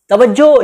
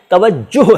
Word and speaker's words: तवज्जुह: तवज्जो शब्द असल में तवज्जुह है, तवज्जुह, लेकिन प्रचलन में ये उच्चारण है नहीं, तवज्जो ही चलता है।